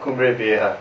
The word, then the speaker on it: Cumbre Vieja: But anyhow, El Destructo's got a new CD, Cumbre Vieja. And Ryan, you're describing this as a, did I say it right? Yep, Cumbre Vieja.